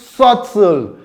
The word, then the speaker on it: subtle: We have the word subtle, not subtle. It is pronounced subtle. You don't pronounce the B sound in the word.